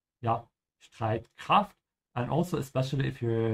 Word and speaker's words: Streitkraft: Again here, the S and T, you have to say st. Yeah, Streitkraft.